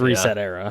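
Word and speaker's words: ResetEra: Recetera. I think it's Recetera, yeah. Reset Era. I think that's how you say it.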